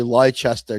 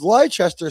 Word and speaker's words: Leicester: we talk about it, we say Leicester to each other. Yeah, that's right. I've actually had Americans say that in front of me on the tube, and I've said, "Hey, let me just tell you how to say that. It's actually Leicester Square."